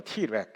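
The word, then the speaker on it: Treg: 그래서 뒤에 가서 또 말씀드리겠습니다만 영어로 이거를 또 아주 짧게 얘기할 때는 티렉이라고 합니다. T렉 일단 이제 그 스펠링이 나오는데요.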